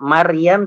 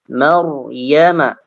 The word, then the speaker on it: Maryam: Jadi dibacanya tidak Maryam tapi Maryama. Maryama, ya.